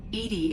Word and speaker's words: EDI: are you named Edie Edie is the phonetic pronunciation of EDI that is an acronym for enhanced defense intelligence let's discuss something else